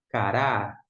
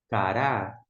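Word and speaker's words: קרא: Cof com a k pre com a que é o r com a ra. E o alif não pronuncia. Cará. Cará.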